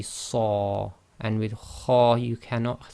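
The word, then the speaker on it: صَ: So with sad you can't say sa, it must be saw, and with kha you cannot say kha, it must be kha.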